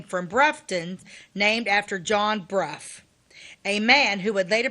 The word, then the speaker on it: Brough: it rhymes with Huff, Brufton. The residents changed the town's name from Brufton, named after John Bruff, a man who would